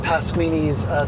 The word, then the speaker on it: Pasquini: Yeah, he said, you know you're Italian if your last name rhymes with linguine.